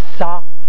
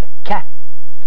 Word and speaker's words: ça: Et ça n'arrive, ça veut dire cela. Et on a enlevé et on a mis la cédille pour prononcer ça et non pas qu'à.